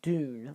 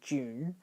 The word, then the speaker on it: Dune: it i'm sorry i i see it as doom like d-o-n but it's obviously pronounced june as in the month so i'm going to